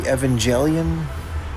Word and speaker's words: Evangelion: This is the Evangelion, proper pronunciation.